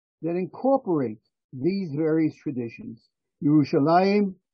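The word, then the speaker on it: ירושלים: Yerushalayim, the Jewish pronunciation, the Hebrew pronunciation, Al-Quds, the Arabic pronunciation,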